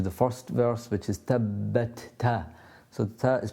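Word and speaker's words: تَبَّتْ: Obviously the Ba has a shadda on it, so we've got 2 Bas to pronounce.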